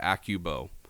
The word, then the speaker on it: Accubow: It's spelled AC Cub O W Acubo.